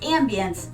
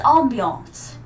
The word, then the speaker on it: ambiance: And by the way, it's not pronounced ambience. That's a pill for a disease you don't want to get. It's ambiance. You know, the awe.